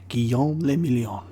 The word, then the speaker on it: Guillaume le Million: Guillaume le Million. Revachol. Okay. Nice. If it doesn't rhyme, you're not pronouncing it right.